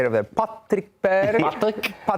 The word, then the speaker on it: Patrick Berg: Patrick Berg. That is how That is how you say it in there. Patrick Berg.